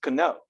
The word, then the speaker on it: know: This word in the old days would have been pronounced cano, not no. The K becomes silent over time, but you know, English speakers are kind of dumb about not changing.